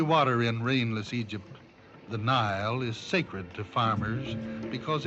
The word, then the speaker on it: Nile: The Nile brings out a poet's smile because it rhymes with crocodile.